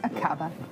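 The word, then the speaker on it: Aqaba: Is that how you would pronounce it? Yes, Akaba. That's right, Iris. It's Akaba in Jordan, 5.5 hours flying time away.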